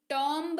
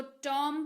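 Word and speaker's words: tomb: इसको टॉम पढ़ते हैं टी ओ एम B spelling है लेकिन पढ़ते वक्त भूल जाएंगे की बी लिखा हुआ है बी को भूल जाइए बी है ही नहीं तो क्या padhiyega टॉम जिसका अर्थ होता है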